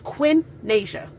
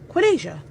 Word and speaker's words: Quinasia: you my name is Quinasia. Quinasia. It's actually pretty simple. 2 syllables. Quin and Asia. You put it together, you get Quinasia.